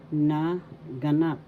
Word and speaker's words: naganap: halimbawa na ganap tense na ganap syllable na second syllable ga third syllable na naganap the third syllable has the accent so pronounce this as naganap happen ginagana ginaganap happening